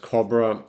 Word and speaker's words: Cabramatta: Cabra could also be pronounced Cobra and in the initial